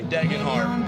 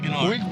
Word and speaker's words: Degenhart: Degenhart. Once you say it, it's exactly how it's spelled. Okay. Degenhart.